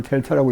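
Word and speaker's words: Δ: 그러면 X에 대한 차분 델타 X는 이거 델타 X라고 있는데 세모를 델타라고 읽습니다.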